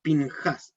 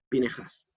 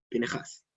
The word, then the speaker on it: Pinejás: Sé que muchos la han visto escrito por ahí como Pinhas, sin la E, pero la pronunciación correcta, en la pronunciación sefaradita, que es la que se ocupa hasta el día de hoy, es Pinhas. Esa E suena poquito, pero suena, Pinhas, ¿sí?